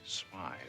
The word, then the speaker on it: Smythe: Look, Mr. Smith. Smythe. It is pronounced Smythe.